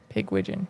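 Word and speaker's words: Pigwidgeon: Pigwiden. Okay. Pig wigon. Pig wigijon.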